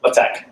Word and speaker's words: LaTeX: Why is it pronounced LaTeX and not latex? I think there are some people who pronounce it that way, but potato.